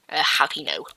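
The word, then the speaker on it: jalapeño: I think it's obviously meant to be pronounced jalapeno, silent J, jalapeno. So that's what we're going to make, the jalapeno GT Turbo.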